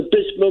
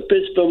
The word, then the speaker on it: Bispham: It's the Bismarck Motel. It's a pub. The where? The Bismarck Motel.